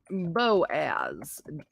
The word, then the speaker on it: Boaz: need to just calm down ali b okay boaz pronunciation yes boaz yeah boaz okay and then um